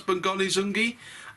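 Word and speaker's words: Bongani Zungu: That's how to pronounce Bongani Zungi.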